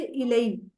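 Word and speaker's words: إلى: इले, इले की, इले की जो प्रोनाउंसिएशन है ना, इसको थोड़ा सा अला से डिफरेंट रखिएगा। वो आइन से अला और ये अलिफ से हमजा से इलई, थोड़ा सा इसके बोलने में फर्क होता है।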